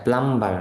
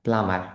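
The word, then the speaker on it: plumber: প্লামার, এটা প্লাম্বার না, প্লামার, বি উচ্চারণ হবে না, প্লামার।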